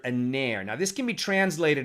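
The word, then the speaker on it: נר: is aner right so in english we might spell that n-e-r but it's a hebrew word aner now this can be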